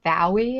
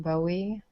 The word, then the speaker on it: Bowie: UK actually work from it's actually pronounced bow II and not Bowie well they may pronounce it Bowie but he named himself after the bow II the Bowie knife and I think it's